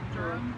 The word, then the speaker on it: Durham: Durham. Yeah. Do you pronounce the H? No. I don't. So it's Durham, so it is like back at home.